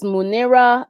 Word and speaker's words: Muneera: So my Instagram is Muneera. So Muneera _. So like Muneera Muneera, because sometimes people spell it with an I, but it's actually Eera.